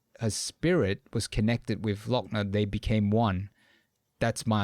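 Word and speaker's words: Lockne: Not Lachna. Lochner.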